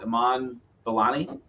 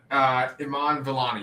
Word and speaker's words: Iman Vellani: How is her name pronounced? Iman Vellani. Oh yeah, Iman Vellani.